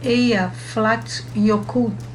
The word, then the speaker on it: Eyjafjallajökull: Um dos mais famosos é o vulcão Eyjafjallajökull, pronuncia-se Eyjafjallajökull, que em 2010 causou o fechamento de diversos aeroportos na Europa por causa das cinzas injetadas na atmosfera.